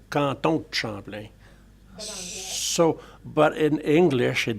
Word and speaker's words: Canton de Champlain: Because if you say it right or say it properly, c'est pas Canton Champlain, c'est Canton Champlain. So you do pronounce the DE, but you tend to drop the E, so Canton Champlain.